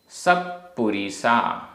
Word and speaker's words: सप्पुरिसा: सप्पुरिसा आधा पा पूरा पा, सप्पुरिसा।